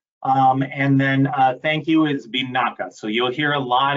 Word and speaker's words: vinaka: If it's please, it's a carry, carry is how that's pronounced. That's please. And then thank you is binaka.